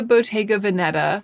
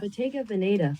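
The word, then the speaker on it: Bottega Veneta: This is the Bayga Vanetta, which I realize I actually don't know how to pronounce. I should look it up. Beta Vanetta. Oh, it's pretty close. Beta Vanetta. Beta Venetta.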